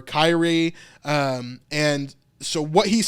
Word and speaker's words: Kyrie: When he says Lord, he's saying the Greek word, I think it's pronounced like Kyrie or Kyrie.